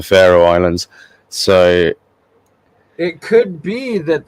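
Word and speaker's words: Faroe Islands: the Pharaoh Islands uh spelled with an F but they sound very like the Pharaoh Islands so it could be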